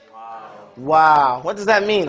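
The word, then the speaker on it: واو: Wow. We are on what? Wow. Wow. And it's pronounced like the English word wow.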